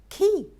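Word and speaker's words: quay: plummer plumber this one q-u-a-y q-u-a-y you look at that and a lot of people are going to be thrown the right pronunciation for that one is key key a lock and key said the same way key and i promise to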